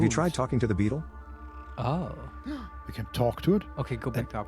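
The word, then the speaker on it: baetyl: also is it a beetle that glass buzzing thing uh it's spelled b a e T Y L I think ah okay it sounds like Beetle if you say it or yeah all right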